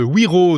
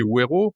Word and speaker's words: Wero: Vous êtes responsable du développement de Wero, W-E-R-O, le porte-monnaie électronique européen, qui a 1